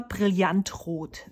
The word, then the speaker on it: Brillantrot: This one is Brilliant Rot oder this is German, oder Brillantrot. That's how you would pronounce it if you would want to say it all the way in German.